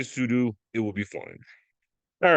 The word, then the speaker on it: sudo: command Pudo or Pudu I like to say pseudo but I believe the correct pronounciation is sudu either way I will